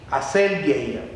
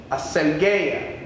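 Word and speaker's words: ἀσέλγεια: Hay unas personas, la palabra griega que se utilizó para definir lascivia es una palabra griega que se pronuncia más o menos así: aselgeia, aselgeia.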